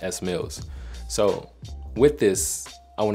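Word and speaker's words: Smielz: you guys don't know my name is pronounced s Mills so with this I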